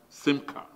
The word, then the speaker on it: simcha: the word chara, and the Hebrew version is smicha, pronounced simcha.